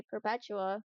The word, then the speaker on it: Perpetua: Everyone knows how to say perpetua. That's just like the word perpetual.